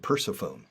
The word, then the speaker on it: Persephone: And Persephone. Another goddess or demi-goddess in Greek mythology, Persephone. I said Persephone.